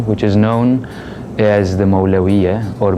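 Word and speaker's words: Mevlevi: mawlana jalaluddin rumi which is known as the malaria or may levy a is the turkish pronunciation in present day Turkey is one of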